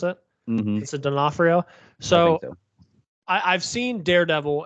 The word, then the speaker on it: Vincent D'Onofrio: So, speaking on Vincent D'Onofrio, is that how you pronounce it? mm-hmm. Vincent D'Onofrio.